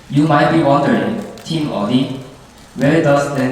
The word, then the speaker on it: Audi: You might be wondering, Team Audi, where does that name come from? I don't know. Well, it's pronounced just like the Korean word "odi" meaning where.